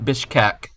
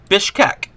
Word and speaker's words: Bishkek: this looks like it would be the capital Bishkek and let's look this cental Plaza if there is a plaza what do you mean what what do you mean what Bishkek b i s b i s h k